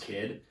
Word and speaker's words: K?D: There's an artist called K?D, and it's pronounced Kid.